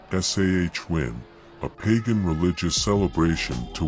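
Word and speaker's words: Samhain: Celtic Festival of sa a Gaelic word pronounced sah win a pagan religious celebration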